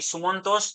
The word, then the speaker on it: सुमंतो: तो स्पेलिंग भी देख लेना कि स्पेलिंग TA है, बट मेरा जो नाम है वो TO है। तो प्रोनाउंसिएशन जो है वो है TO।